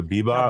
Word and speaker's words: Bebop: Am I saying it wrong, Garrett? It's like Cowboy Bebop.